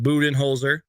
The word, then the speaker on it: Budenholzer: but andher but his he pronounces it booten holer so just so you guys know that and uh that's pretty